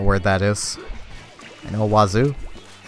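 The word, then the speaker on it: oiseau: It's freaking wazoo, but it's not spelt like wazoo. I know it's not exactly how you say it, but it's full of so many letters, and you pronounce precisely none of them.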